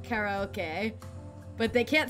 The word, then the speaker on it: karaoke: the one and only they could pronounce karaoke right in the Japanese way how are they said it Cara okay but they can't say